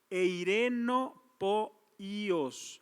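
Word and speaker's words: εἰρηνοποιός: Eirenopoíos, así como lo pronuncié, que quiere decir pacificatore, pacificadores, establecimiento de la paz o ser un pacificador.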